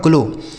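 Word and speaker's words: glow: ओ डब्ल्यू का उच्चारण ओ की मात्रा। ये हो गया आपका ग्लो लेकिन इसको क्या पढ़ेंगे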